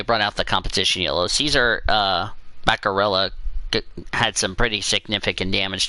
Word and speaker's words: Baccarella: Caesar Baccarella, thank you to Orman and to Elijah for helping me pronounce that name.